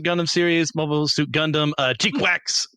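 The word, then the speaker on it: GQuuuuuuX: The newest Mobile Suit Gundam series, Mobile Suit Gundam, Cheekwax, that's how you're supposed to pronounce all those different U's, is out.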